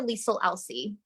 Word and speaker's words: Liesle Elsey: So my first name and last name are like a mirror of each other.